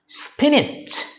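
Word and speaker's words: spinach: একটা হলো ব্রিটিশ স্টাইলে, আর একটা হচ্ছে আমেরিকান স্টাইলে। ব্রিটিশটা এটাকে উচ্চারণ করে লাইক স্পিনিচ, স্পিনিচ, স্পিনিচ, শেষে জ জ উচ্চারণ করে স্পিনিচ, স্পিনিচ। আর আমেরিকানটা উচ্চারণ করে স্পিনিচ, স্পিনিচ, স্পিনিচ, শেষে চ চ এরকম উচ্চারণ করে মনে হয়, স্পিনিচ, স্পিনিচ।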